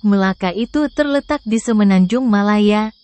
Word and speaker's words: Melaka: Malaka dan hang tua Kesultanan Malaka atau yang dalam pelafalan orang Malaysia disebut Melaka itu terletak di semenanjung